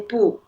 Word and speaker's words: 不: like when you use it separately, you say 不. 不 You use the falling tone 不. But when you put it together, you use the raising tone like 不对, 不太难. Yeah.